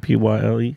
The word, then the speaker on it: Pyle: Is that pronounced Pyle? yeah. Is it Pyle?